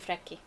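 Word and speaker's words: Freki: He has been linked to the legend of the Odin's hounds, though they were actually two wolves called Jerry and Freaky. Close, Gerry and Frecky.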